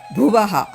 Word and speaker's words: Bhuvaha: Bhu is stressed. O Bhur. Again Bhuvaha.